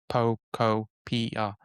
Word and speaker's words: Pokopia: in English kind of wording, it makes sense, but when you actually look at the pronunciation, it's Pokopia. Very Japanese approach of every syllable.